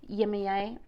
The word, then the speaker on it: Yemaya: of, I call it I say Yemaya, but I think other people pronounce it Yemaya.